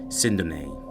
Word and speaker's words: Sindone: We understand that based on his surname, it is pronounced Sindone. However, in the news media outlets and from other associates, many people label his last name as Sindone. So we would go by the traditional media pronunciation, Sindone, but we do acknowledge that his name is correctly pronounced as Sindone.